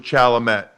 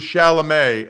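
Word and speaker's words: Chalamet: Dan, I swear I thought his name was Shalamett. I had never I had never heard it pronounced before. I had no idea it was Shalamé. And not Shalameé sounds so much better than Shalamett.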